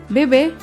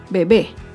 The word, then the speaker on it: bebé: oportunidad otro ejemplo es la palabra bebé bebé es una palabra aguda se acentúa en la última sílaba y lleva tilde porque termina en vocal bebé acá vemos otro ejemplo con